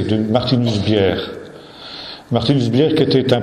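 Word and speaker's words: Bjerre: Bier, Martinus Bier. Bier, ça s'écrit B-J-E-2-R-E. Oui, ça se prononce I en danois, c'est du danois. Hein. C'est un J, mais ça se prononce I.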